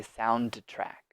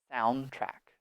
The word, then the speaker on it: soundtrack: Note with this one, it is difficult to say D and T together. So we do not say soundtrack, soundtrack. We just remove the D. Forget it. We don't need it. Just soundtrack, soundtrack. That's the correct pronunciation.